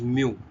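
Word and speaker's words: μ: as the mu okay this is being pronounced this is pronounced as mu okay you can say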